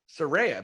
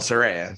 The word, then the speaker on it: Saraya: debut match at aew Soraya by the way Soraya Saraya whatever I mean she actually called Saraya so it's called by a name right are you sure